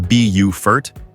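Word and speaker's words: Beaufort: Bowfort, pronounced Bufort, offers a coastal lifestyle rooted in history and natural beauty.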